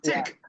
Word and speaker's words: Teck: Tech.